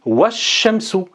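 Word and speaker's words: والشمس: Donc on dira ici wash-shamsu, wash-shamsu, wash-shamsu. D'accord? Autrement dit, ça, la hamza qui est ici, on la prononcera lorsqu'on commencera par elle, et on ne la prononcera pas lorsqu'elle sera précédée par un autre mot.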